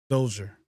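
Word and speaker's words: Djer: no wow it's it's it's hard to pronounce but yeah the D is silent okay oh joer they have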